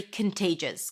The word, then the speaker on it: contagious: The thing about the virus is that it's very contagious.